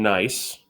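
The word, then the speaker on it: gneiss: we up here we have a piece of nice that's pronounced nice not good nice that's nice we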